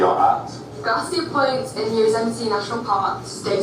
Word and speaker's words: Yosemite: We are at Garcia Point in Yosemite National Park, Day 2. Yosemite. You know why we're saying Yosemite? Because it's spelled Yosemite.